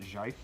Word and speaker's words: GIF: I pronounce it Jife.